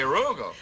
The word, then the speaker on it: Rugel: Rugel. Alonzo K. Rugel. Rugel. Alonzo K. Rugel. It rhymes with bugle.